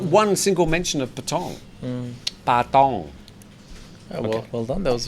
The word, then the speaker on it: Patong: Patong. Oh, well done. That was a pretty good pronunciation.